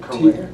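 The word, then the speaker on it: Carrere: Is it Korea?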